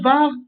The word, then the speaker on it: VAR: Est-ce qu'il faut dire le VAR ou l'avar ? Et bien, les deux sont corrects.